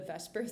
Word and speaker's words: VSEPR: for short is the VSEPR theory. Obviously, it's not spelled completely like VSEPR, but that's how it's said.